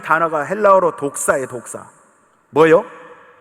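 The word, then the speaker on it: δόξα: 여러분, 제가 지난번에도 한번 말씀드렸는데, 자, 영광이라는 이 단어가 헬라어로 독사예요. 독사. 뭐요? 뱀 독사 말고 그 헬라어 발음으로 독사라고 합니다.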